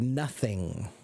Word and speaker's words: nothing: to pronounce the word nothing nothing nothing so the th is a silent U I'm sorry a voiceless th n n and it's